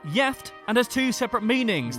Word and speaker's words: gift: as the english is gift but it's pronounced yeft and has two separate